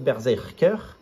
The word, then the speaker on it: BRZRKR: pas tout de suite bershacker donc ça se prononce Berzerker tome 1 il y